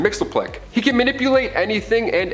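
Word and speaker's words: Mxyzptlk: fifth dimension close enough his real name doesn't even translate into earth's languages but we collectively pronounce it as mr mixel plick he can manipulate anything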